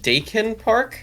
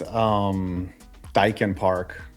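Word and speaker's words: Daikin Park: Is it Dakin Park? That is Dyken Park. Dyken? It is Dyken.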